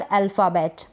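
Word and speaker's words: alphabet: जैसे कि स्पेलिंग्स है यहाँ पर अल्फ़ाबेट, अल्फ़ाबेट, यहाँ पर PH को फ पढ़ा जा रहा है, AL को L पढ़ रहे हैं हम, अल्फ़ाबेट।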